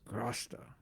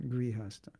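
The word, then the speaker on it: गृहस्थ: If a devotee grahasta, it's actually pronounced grasta, not grihasta, grahasta.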